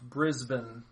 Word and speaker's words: Brisbane: someone commented and said it's pronounced Brisbane.